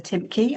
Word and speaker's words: Timcke: Um, so you can pronounce my name. It's Timky.